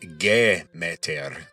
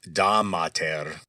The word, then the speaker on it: Demeter: of the chief deity and Demeter, which in Attic Greek would be pronounced Gemeter, kind of like Gemeter. Now, that GE might ring a bell. Ge, or Gaia, is earth in Greek. So, in Doric Greek, Demeter was Damater.